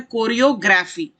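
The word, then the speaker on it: choreography: Pronunciation भी सुनते जाइए ध्यान से, उसे कहते हैं कोरियोग्राफी। ग्राफी, GRAPHY, कोरियोग्राफी।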